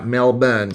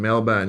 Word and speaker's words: Melbourne: the r yep the r is silent thank you Mark I thought so I thought so that's why I say correct me if I'm wrong you guys are going to know if I want to know something I ask you guys that's yeah Mel bun Steve Brown Mel bun yes okay it's born so